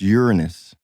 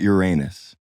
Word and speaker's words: Uranus: mention to start because everyone pronounces it wrong it's Uranus not Uranus only for his pronunciation